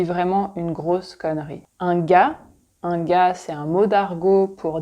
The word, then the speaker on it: gars: Un gars, c'est un mot d'argot pour dire un mec, un homme, un gars. On prononce pas le R et on prononce pas le S.